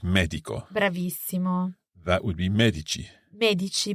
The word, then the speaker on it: medici: Medico that would be Medici Medici because the emphasis is on the first syllable on the symbol on the syllable me so Medico Medici I'm